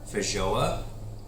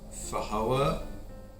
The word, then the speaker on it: Feijoa: So today we are trying a Feijoa. I've heard this pronounced several different ways. I've heard Feijoa, but we're going with Feijoa because that's what I was told at the nursery.